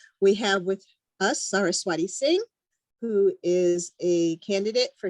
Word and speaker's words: Singh: pronounced sir t and my last name is singh as in song and i say this